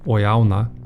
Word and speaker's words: oyauna: In one direction, it's pronounced oyauna. In the other, it's anawoi.